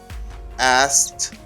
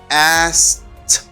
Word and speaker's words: asked: I say asked. This is like this, okay? Because this ED gives you the T sound, you say asked. You don't pronounce K. Letter K is not pronounced.